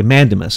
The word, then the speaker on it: mandamus: I writ of is do you say mandamus is that how you say it yeah okay mandamus I was saying it wrong sorry the writ of